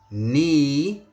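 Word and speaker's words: 你: Ni, ni has a rising tone, so it's ni.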